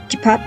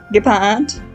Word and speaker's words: Gepard: Yeah, like I said, Gepard. Even heard it should be pronounced in German, his name. It's not Gepard, but Gepard.